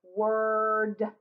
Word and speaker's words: word: it says word word now here's where it gets a little bit tricky you might have thought this Oh ours that or it born always have to look to see if there is a W in front of it if it is it changes its special sound it's not or its work so we say word word let's do this one